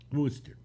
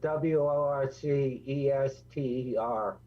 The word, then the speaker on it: Worcester: think no it isn't it's spelled w-o-r-c-e-s-t-e-r oh okay and that comes out to worcester okay and the other